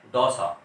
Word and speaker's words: दौसा: दौसा। इसी प्रकार है ये शुद्ध है चित्तौड़, और बोलते हैं चित्तौड़। तो औ की मात्रा लग रही है, औ की मात्रा, और उच्चारण करते हैं हम ओ वाला।